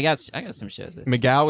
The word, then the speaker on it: McGough: Migaw is spelled MC G O U G H.